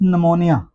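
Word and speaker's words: pneumonia: Next word है हमारे पास निमोनिया। निमोनिया word जो दोस्तों है इसके साथ भी पी है तो पी साइलेंट है। इसको एन से पढ़ेंगे।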